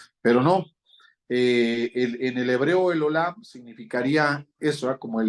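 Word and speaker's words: אל עולם: Me acuerdo que en el hebreo se pronuncia el Olam.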